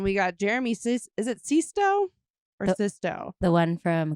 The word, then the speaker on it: Sisto: Did you hear that? Jeremy Sisto. Oh, That's how you say it. I was like, wait, what? Sisto. Yes, I couldn't highlight it. No, fast that's enough. perfect. It is Jeremy Sisto.